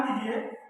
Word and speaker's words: the: अगर ऐसे वर्ड जिनका पहला वर्ड वॉवेल हो, जिनका प्रोनाउंसिएशन करने पर पहला वर्ड वॉवेल हो, उनके पहले यदि THE का प्रयोग होता है तो यहाँ इसको हम दी बोलते हैं।